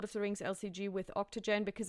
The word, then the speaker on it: OCTGN: It's spelled OCTGN, Octogen, I believe, is how they call it.